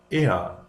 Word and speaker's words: er: Now, if a syllable ends in r, the r is pronounced like a short a, like a. For example, er, Tür, Tor. If the ending, however, is er, although er is not